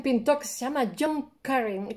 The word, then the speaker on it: Currin: se llama john carlin se escribe currín como el curry pero por un adn al final no sé en inglés los ingleses no hacen viva vibrante múltiple o sea no pueden decir jong-ku ring porque eso ese sonido no existe en esa lengua ni la jota